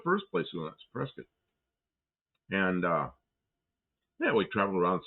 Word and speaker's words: Prescott: Prescott, yeah, I pronounced it right. Prescott.